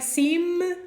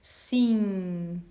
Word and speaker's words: sim: sim or scene no it's not an m i mean it is an m but the sound is not going to sound like your normal m from at the beginning of the words it's a nasal sound so you don't really put your lips completely together you just don't finish that movement and you let the sound go out so you say sing sing okay again this is